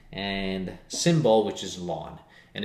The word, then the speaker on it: ln: base e and that we write as simply ln which is pronounced lawn so instead of continuously